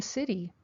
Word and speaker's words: city: your last name City I live in the city the T of city has a deep pronunciation City the city is really big country